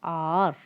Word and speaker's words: hour: So because it's starting with a vowel sound, we use the article an honest person, an hour, an honor. Okay, H is silent in these three words.